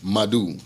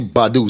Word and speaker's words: Badu: Sonny Madu, alright? Sonny Badu, sorry, gotta make sure I pronounce the name properly.